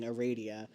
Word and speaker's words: Aradia: And I really only go through those pronunciations just so I'm not saying Aradia, which then some people argue it's Aradia, and it's not. It's Aradia.